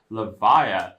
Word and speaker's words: Levia: favorite hero from Monarch levia now see that's the right way to say levia folks that's coming from the